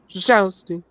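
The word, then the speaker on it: Szczęsny: It's got a little bit of an accent that goes up and down very quick. So it's Szczesny.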